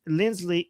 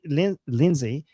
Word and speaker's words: Lindsay: Uh, GG with the super chat saying James Lindley Lindsay Lindsay.